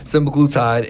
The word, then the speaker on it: semaglutide: but they can't fight the fact that this semaglutide, did I say it right? Yep. Okay, semaglutide and the Ozempics, the Mounjaros, the Wegovys is effective and is out here working.